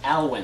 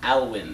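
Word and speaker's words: Alwyne: is actually pretty cool my middle name is alwin let me spell that for you it's a l w y n e alwin question fo name one thing you want to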